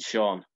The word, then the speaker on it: Sean: A big beer stein is not a Brian Steen, and Sean most certainly doesn't coalesce with bean.